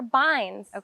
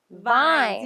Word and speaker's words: bind: Yes, this is a hop yard, and these are binds, not vines. You are saying that with a B.